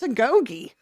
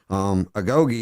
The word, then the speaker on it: agoge: So Agogi Fight League, what's Agogi? I'm proud of you for saying it right the first time. That's awesome. Most people don't even know how to pronounce it, but agoge is the training that Spartans had to go